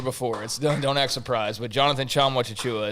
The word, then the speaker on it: Jonathan Tchamwa-Tchatchoua: Jonathan Tchamwa-Tchatchoua is how you say his name. I've said that on here before. Don't act surprised, but Jonathan Tchamwa-Tchatchoua is how you say